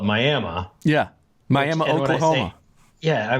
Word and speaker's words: Miami: is phonetically yes and spelled it is Miami it is identical to the city in Florida yet for some reason here we call it Miami yeah Miami Oklahoma yeah